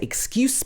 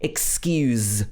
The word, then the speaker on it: excuse: excuse me so this we wouldn't say excuse me it should be excuse with the z sound at the end for